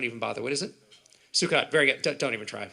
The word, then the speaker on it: Sukkot: He comes up to me, even the way he pronounces it, what's that holiday you have, suck it? Sukkot, Russell. It's not how you say it. It's like that other one, shove it, Shavuot.